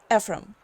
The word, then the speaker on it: Ephraim: Ephraim, right? Did I pronounce that right?